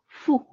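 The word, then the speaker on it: ふ: H U na hu mas binibigkas nila ng Fu yung character na yan So parang f and U sound Fu hu Okay and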